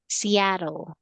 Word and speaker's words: Seattle: However, this word or this place, okay, we pronounce this one as Seattle.